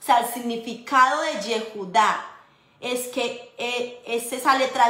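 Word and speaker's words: יהודה: En hebreo, la palabra Judá, o sea, Judá, judíos, Judá, se dice Yehudá.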